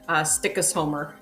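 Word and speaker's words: Stykkishólmur: And then Richard commented directly, apparently Walter Mitty, Greenland scenes were actually shot in, and I'll ask you to pronounce that, Katie. Stikkisholmer.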